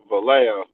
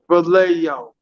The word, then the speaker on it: Vallejo: to be Val gelino oh Vallejo Vallejo he's from Vallejo so I was like